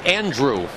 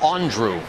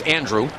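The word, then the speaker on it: Andruw: around on that and it is pronounced Andrew not Andrew he says follow those years in Atlanta couple their announcers did the Andrew thing but it's Andrew yeah that was interesting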